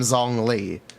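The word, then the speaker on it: Zhongli: my muani video saying why do you pronounce Jung Le that way bruh I think my pronunciation is actually not bad for Jong how do I pronounce it correctly I know we should call him zong Lee he is John Lee God of leeway the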